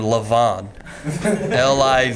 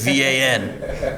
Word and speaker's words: Livan: Nobody named Levon. Livan. Oh, that's how you pronounce it?